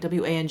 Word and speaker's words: Wang: always pronounce it wrong they see the a and they pronounce it the like I I don't know what the phonetic term is it's like a soft long a anyway my last name is pronounced Wang spelled W a ng o